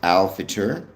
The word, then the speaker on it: al-Fitr: It's pronounced al-Fitr.